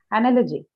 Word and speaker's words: analogy: You understand why factorial has the second syllable stressed? Understand? Yes, ma'am. No? Okay. All right. Now the next one. Analogy.